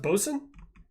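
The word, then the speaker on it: boatswain: quote boat bosen's mate really B Wayne is pronounced BOS learn something new every day uh the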